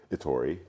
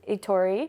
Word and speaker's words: Etori: here how do you say your last name itori itori yeah and Lucen and I know each other